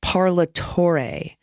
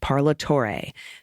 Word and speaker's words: Parlatore: by the way it's parlatorre the four symbol rhymes with day parlatore thanks love the show